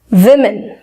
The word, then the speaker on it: women: Form होता है और हम इसको प्रोनाउंस करते हैं करेक्टली एज विमेन। विमेन, आई यहां पे कहीं नहीं है, फिर भी इसका प्रोनाउंसिएशन होता है विमेन, विमेन।